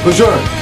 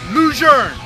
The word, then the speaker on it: Lejeune: adjourn get right rott block general John Archer Luzerne John Archer Luzerne get a ride Marine John Archer reserve right